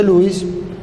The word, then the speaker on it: Louis: técnica se conoce como técnica de lewis que también se pronuncia louis pero lo decimos así para no confundir una línea horizontal que